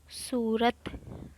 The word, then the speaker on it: صورت: سب سے پہلے ہے صورت، صاد پر پیش آئے گی۔ اس کے بعد ہے